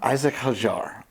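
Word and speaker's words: Isack Hadjar: Isaac Hajar? Isaac Hajar.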